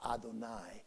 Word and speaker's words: Adonai: you'd hey vav hey that of course is the name that we have for god that we pronounce adonai you'd hey and the letters add up to 26.